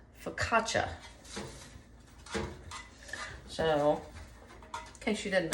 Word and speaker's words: focaccia: ton of different ways and um it's actually pronounced focaccia so in case you didn't know that because